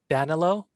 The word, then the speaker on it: Danilo: where are you on here how do you spell that uh it's d-a-n-i-l-o d-a-n-i-n then danilo it's yeah it's it's danilo all right good